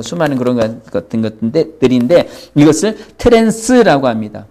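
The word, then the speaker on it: trance: 영어로는 트랜스인데 일본 사람이 영어 발음을 잘못해서 도란스 이걸 우리가 사용하고 있는데 트랜스, 이렇게 변환되어진다는 거죠.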